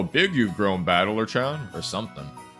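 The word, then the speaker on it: 戦人: The problem is my given name is made up of the characters for fight and person and it's pronounced battler.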